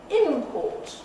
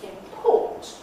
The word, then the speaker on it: import: is the nucleus and i'm thinking about things like import versus import nothing changes there you can see i've deliberately transcribed it for you nothing changes except the location of the nucleus the segments stay exactly the same all that's happened is this has hopped over to the second syllable and there are lots